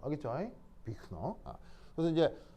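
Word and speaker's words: Büchner: 이럴 때 어떻게 하냐면서 위크너예요.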